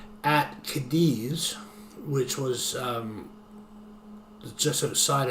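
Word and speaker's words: Cádiz: So this the founding of the city of Kadis which phonetically sounds like Gadis Gades G- A D S or C A D I Z.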